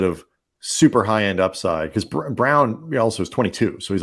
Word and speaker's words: Braun: It is hard to find, but a guy with that kind of like is Christian Brown, Christian Brown, spelled Braun, pronounced Brown.